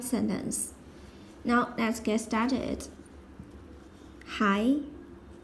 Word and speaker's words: 还: Hai. This is a polyphone. Pronounced as hai means still, yet, also, or huán means to pay back. To return.